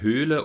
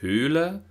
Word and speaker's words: Höhle: hier rechts zu sehen bei den Wörtern Höhle und Hölle kann man sehr schön den Unterschied zwischen dem langen gespannten övokal und dem kurzen ungespannten övokal hören die Höhle die Hölle und auch